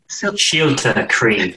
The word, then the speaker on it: Siolta Chroi: So a little introduction to Camp Siolta Chroi, and I hope I'm pronouncing that correctly. I'm still not saying it right. Oh, Siolta Chroi. Siolta Chroi.